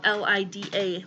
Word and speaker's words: Lida: It's spelled L-I-D-A, like Lida.